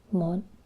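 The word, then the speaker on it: một: I wrote that horribly it's um mod and as you can see it has a heavy tone um this hat symbol is a diacritic um and it basically just changes the way you pronounce the O um Vietnamese has many diacritics that change the way a letter is spoken or pronounced as well as tone marks that tells you what tone that word has so this is the heavy tone and it's m mod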